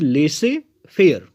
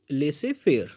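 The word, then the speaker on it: laissez-faire: तो हमारा जो नेक्स्ट फ्रेज है वो फ्रेंच लैंग्वेज से लिया गया है और यह लेसे फेयर। फिर से एक बार प्रोनाउंसिएशन देखेंगे। द प्रोनाउंसिएशन इज लेसे फेयर। लेसे फेयर it means leave the individual alone to do work.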